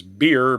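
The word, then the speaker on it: Bier: His name is Beer, but it's spelled B I E R.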